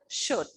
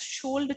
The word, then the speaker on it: should: In the same manner, should. As I told you that should is the past form of the modal verb shall. Don't pronounce it as should, children. Here also the letter L remains silent.